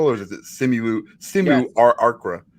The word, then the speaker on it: simulacra: Do I pronounce this L or is it simulacra? Simulacra. No, you say those L's.